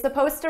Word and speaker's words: supposed: it's supposed to now notice here supposed to suppose is spelled with an ed it's an ed verb but you don't hear it at all it's supposed to